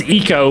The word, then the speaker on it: Ico: Oh yeah, it's spelled ICO uh pronounced eco, but yeah, just three letters, ICO.